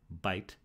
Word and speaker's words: bayt: So in Sinaitic, these would have been pronounced alp, bait, and gamel.